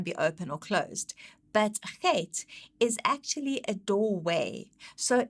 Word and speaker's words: Chet: The significance of Chet is that it's seen as a doorway or an entrance. And the phonetics of it is it's ch. So as in Bach, it's pronounced with a ch.